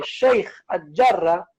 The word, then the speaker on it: Sheikh al-Jarrah: Y estaría bueno que se pronuncie como corresponde, Sheikh al-Jarrah, ¿sí? Porque realmente ese es el nombre que le corresponde, no, digamos, pronunciar localidades extranjeras con un tono anglosajón.